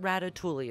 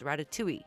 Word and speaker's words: ratatouille: It's not ratatouille, okay? It's ratatouille. You want to grab each ingredient in sets of 99.